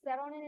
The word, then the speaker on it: Xeronine: By the way, this seronin is it's spelled as XERONINE, by the way.